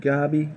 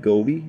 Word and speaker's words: goby: guy right there my emerald spotted gobby or emerald spotted goby as i've been told i've been saying it wrong has what it looks